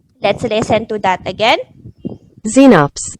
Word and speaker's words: Xenops: pronounce that word let's listen to that again xenops xenops that's how you pronounce it so let's cover it how do